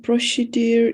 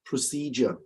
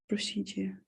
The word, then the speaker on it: procedure: for me karula what about number two my Prussia deer is on Thursday next week on so pronunciation procedure procedure procedure yeah Okay so we've got in we've got